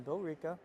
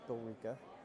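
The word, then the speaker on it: Billerica: game's which so we'll be in Bill ra which is spelled like Bill Erica but it's Bill ra and here it's spelled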